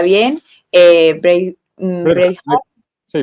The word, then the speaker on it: Braveheart: si se pronuncia bien, Braveheart, Braveheart. sí, Braveheart.